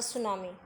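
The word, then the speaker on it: tsunami: Now there is second lesson है आपका द सुनामी। यहाँ पे टी साइलेंट है।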